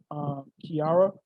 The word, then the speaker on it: Kiara: So I want to say Kiara. Is that how you say your name? Yes, you said it right.